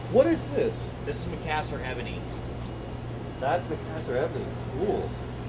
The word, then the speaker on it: Macassar: This is gonna be a back of a guitar, and you can see how this Macassar, is that the right pronunciation?